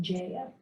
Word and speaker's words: Jaya: She pronounces her name Jaya.